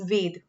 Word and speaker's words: वेद: ऋग्वेद पहला वेद था, ये सबसे पुराना वेद की बात करें, सॉरी मैं बार बार वेग प्रोनाउंस हो रहा है, बट इट्स वेद।